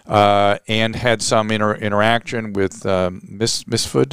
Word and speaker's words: Mifsud: She worked for the president of the EU, president of the European Union, and had some interaction with Misfood. How do you pronounce the name? Mifsud.